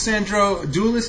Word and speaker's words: Sandro Doulis: With me on Skype is Sandro Doulis. Did I pronounce that correct?